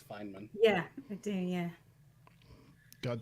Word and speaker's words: Feynman: They mispronounce it as Feynman, but yeah, it's Feynman.